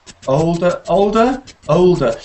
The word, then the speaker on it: older: Yeah, that's interesting, that one, because with the L, you don't usually hear it pronounced so much like an O. When you have an L after the O, it gets softer halfway. Like people don't say colder, they say colder, and it's like halfway to the.